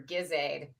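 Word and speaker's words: GISAID: always back to my Soft G, business soft G for Bundibugyo, hard G for Gizaid.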